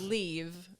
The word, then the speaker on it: Liv: whole name so it's leave phone leave is like leave the room it's liv it means life in swedish fonald raj has a